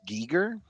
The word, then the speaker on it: Giger: So it's pronounced giger.